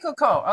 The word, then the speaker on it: Ikuko: Ikuko, that's how you pronounce Wow. it? Ikuko. Okay. Ikuko.